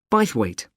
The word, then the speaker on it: Bythwaite: do you spell that b y t h w a i t e bite weight is it easy to